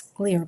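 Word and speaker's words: Xlear: It's It's spelled X clear, but it's really clear.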